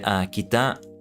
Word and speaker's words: 北: But yeah, kita. North. Kita. Kita. Kita. I need to know the proper pronunciation of that.